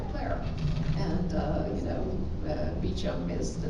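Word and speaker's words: Beauchamp: a French name but has been you know co-opted into a British pronunciation so it is in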